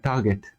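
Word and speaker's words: TRGT: this point of time the tool has been called trtt in short uh or pronounced as uh Target the Sab has been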